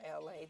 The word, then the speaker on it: LA: You guys, my name is LA, pronounced like LA, like the city.